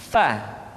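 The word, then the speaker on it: ف: Berikutnya pengucapan huruf fa. Diucapkan dengan menyentuhkan ujung dua gigi seri kita bagian atas dengan bibir bawah bagian dalam. Fa. Seperti kita mengucapkan huruf F di dalam huruf Latin.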